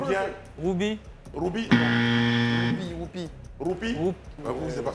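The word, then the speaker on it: roupie: Ruby. Ruby. Pourquoi? Prononcez bien. Ruby. Prononcez bien. Ruby. Ruby. Whoopi, whoopi. Roupi.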